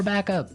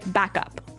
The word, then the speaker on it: backup: point out that here the pronunciation and stress of this phrase is really important. Hey. Yes. Yes. You have to say backup. Backup. Backup. Yeah. So both words are stressed at about the same level.